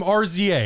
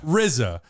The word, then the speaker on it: RZA: RZA. How do you pronounce that? RZA.